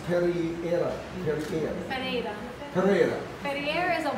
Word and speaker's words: Pereira: It's Pereira. Pereira. Pereira. Pereira is a water. Right. Pereira. Pereira. Pereira. Yeah. Pereira. Yeah. Pereira. Yeah. It's okay. It's good. Pereira.